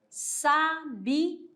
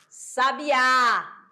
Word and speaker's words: sabiá: Sabiá. Sabiá. Olha aqui, a sílaba mais forte foi o quê? O A.